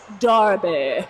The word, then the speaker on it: derby: Jet lagged, but excited to see roller derby. Which they pronounce Darby.